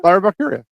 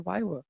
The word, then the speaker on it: Lyra Valkyria: I always said Wywa. It's Lyra Valkyria. I always say Wywa, and no one's corrected me. No, I never said it in front of me, obviously. I've always said Wyra because I couldn't really pronounce the It's L. Lyra. Lyra. Yeah. It's a lion Like bitch.